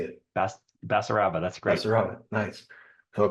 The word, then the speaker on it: Basaraba: Basaraba, that's great.